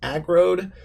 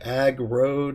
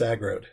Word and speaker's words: Aggroed: And you can call me, my name is Agrode. Kind of rhymes with road or ag road. I don't know. You'll figure it out, but it's Agrode.